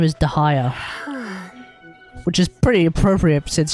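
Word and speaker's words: Dehya: Dahaya, it's how it's generally pronounced. Dahaya, and now you know more videos for you here to learn more. Dahaya. So apparently her name is Dahaya, which is pretty appropriate since she's since she's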